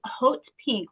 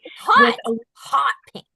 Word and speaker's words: haute: I can't find the name and then I'm actually wearing haute pink which is spelled h a u t e. Everybody calls it something different but I call it haute pink. Hot hot pink.